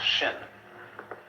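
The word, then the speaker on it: 心: In Chinese, mind is this word pronounced shin.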